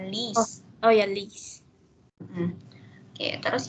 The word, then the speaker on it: liest: Liest du die Zeitung? Ya, die Zeitung lese ich. Apakah kamu membaca koran tersebut? Ya, aku membaca koran tersebut. Betul, tapi bacanya bukan lies ya, lis.